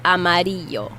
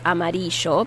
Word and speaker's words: amarillo: Yellow is amarillo. Amarillo. You might hear it as amarillo because those double L's are variable in different Latin American cultures.